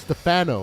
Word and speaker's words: Stefano: I believe it's pronounced Stefano. It's Stefano, like the Americans.